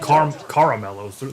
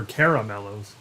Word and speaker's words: Caramello: They're not caramellos. They're caramellos. I pronounce it correctly because it's a name on the ground.